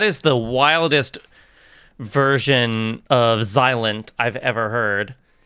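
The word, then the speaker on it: Xilent: That is the wildest version of Zilent I've ever heard. Not Not Zylat. Zilent. The X is silent. So like silent, but with an X.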